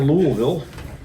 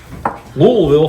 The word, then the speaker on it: Louisville: This was at the Hard Rock Cafe in Louisville. Louisville from people from Louisville. For all other people, it's Louisville.